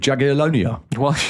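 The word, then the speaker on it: Jagiellonia: Well, mate, they drew with Jagalonia. That's actually the pronunciation.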